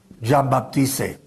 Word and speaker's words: Jean-Baptiste: Siempre lo escribe y lo pronuncia como si fuera inglés. Y no es inglés el señor, es francés. Ya lo mencioné el otro día. Jean-Baptiste.